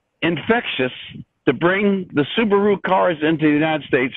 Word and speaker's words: Subaru: infectious to bring the subaru cars into the united states from japan well it was all good except the guy said man you pronounced it wrong it's subaru what are you talking